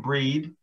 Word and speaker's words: Brigid: tonight we're going to use the ancient irish uh pronunciation of her name breed um spelled brig by the way and the